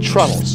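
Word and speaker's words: treenail: these wooden fasters that called troubles but it's spelled tree now because it made of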